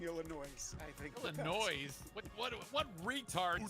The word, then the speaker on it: Illinois: Yes, number one, they just trucked Ohio State and Illinois and about to truck Michigan this week. So yes, just Illinois.